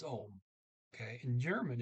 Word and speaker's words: om: I said Ohm. It's a OM. The O there is pronounced as a short O, Ohm. Okay. I said maybe it's No, it's Ohm.